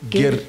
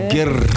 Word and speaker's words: гэр: And of course it is pronounced as Gir. So I'm trying to roll the R now. Gir. I like the R rolling. Gir.